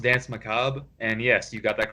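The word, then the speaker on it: Dansé Macabre: It's pronounced Dance Macabre, and yes, you got that correct.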